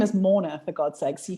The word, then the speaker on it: Morna: So you can imagine how many times that's been butchered, because even with my accent, you actually can't hear how it's spelled because it's got an R in it.